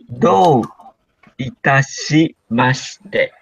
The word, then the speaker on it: do itashimashite: And can you please pronounce the last one for me? Because it's hard for me. Okay. Do itashimashite.